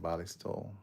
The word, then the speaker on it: Ballistol: Balistol.